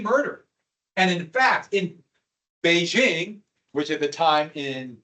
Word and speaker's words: Beijing: days in Pay King because of the British bastardization and mispronunciation of Beijing when I was in school I didn't learn Beijing which is closer to the actual pronunciation still not quite correct but I learned ping